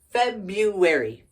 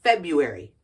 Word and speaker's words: February: have January February February we don't pronounce that first one we say Feb U AR February February okay followed by March